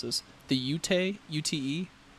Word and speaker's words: Ute: And so there's another neighboring tribe called I don't even know how to pronounce this. The Ute, UTE, Ute Indians.